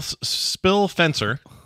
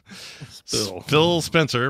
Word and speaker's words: Phil Spencer: here uh spill spill spill fencer Phil Spencer rather is how you say his name uh sat down with